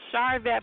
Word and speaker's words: Sharvette: shet you know what you say it like my mother says it my mother says Chet it's charvette but you know what my mother says chette so we good we